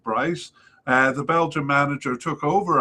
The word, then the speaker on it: Brys: In came manager Mark Breeze, I think it's Brys, maybe pronounced Bryce.